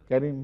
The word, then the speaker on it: Carim: On the other hand, where the stroke is not present like in Enver Carim, there is no stroke under the ‘C’ in Carim so it is pronounced as ‘Carim’.